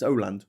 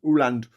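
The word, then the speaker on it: Åland: Also uh Danish or Aland um between Swin Sweden and um Finland. It's It's pronounced Oand, isn't it? Aland. It's Oland. Ooland.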